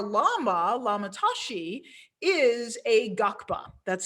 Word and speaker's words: Ngakpa: And our Lama, Lama Tashi, is a Gakpa. That's spelled Ngakpa.